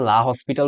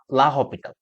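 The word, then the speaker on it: l'Hôpital: এটাকে অনেকে লা হসপিটাল রুল বলে, যেটা অ্যাকচুয়ালি গুগলের প্রোনাউন্সিয়েশন দেখে আমি যা দেখলাম, এটার অ্যাকচুয়াল প্রোনাউন্সিয়েশনটা হচ্ছে লা লা হপিটাল।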